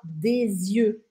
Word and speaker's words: des yeux: Agora, cuidado, porque se for os dois ou vários olhos, a gente fala des yeux. Des yeux. A pronúncia e mesmo a grafia muda completamente dessa palavra.